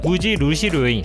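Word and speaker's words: 無印良品: 무인양품의 일본 발음은 무지루시 료인, 무지루시는 브랜드가 없다, 료인은 품질이 좋은 제품을 뜻합니다.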